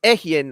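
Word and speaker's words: אהיה: that they mispronounce uh ahaya which is pronounced ehien actual hebrew that form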